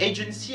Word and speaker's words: agency: En effet, agency a une terminaison en si qui nous rappelle grâce à la quatrième règle que l'accent est placé sur l'antépénultième syllabe. Et coup de bol, l'antépénultième syllabe de ce mot-là, c'est sa première syllabe. Donc du coup, on placera l'accent en première syllabe dans agency.